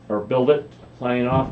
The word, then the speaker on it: Build It: This is Bill Diet, or Build It, signing off. I keep saying Bill Diet because that's the way it's spelled. But I wanted it to be Build It. So B-I-L-D-I-T, but Build It.